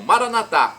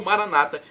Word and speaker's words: Maranata: aramaico dialeto de Jesus eu clamo Maranata como dizemos nós católicos ou Maranata como dizem nossos irmãos separados os evangélicos ou protestantes não importa a pronúncia o significado é